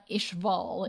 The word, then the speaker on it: Ishval: about the two questions one how do you pronounce it uh ishval is ishval is the the country or region